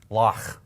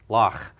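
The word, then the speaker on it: loch: For example, in Scottish, right, the word Lach. Lach. Think of the great German composer, Bach. Not Bach, but Bach.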